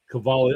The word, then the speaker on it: Cavalli: Cavalli, I keep saying it wrong. It's Cavalli, the K. But it's spelled with a suit.